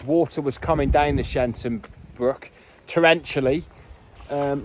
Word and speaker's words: Sheinton: read and and that definitely says shine shenton not shyon but yeah that's that's the pronunciation of the locals it's we're back in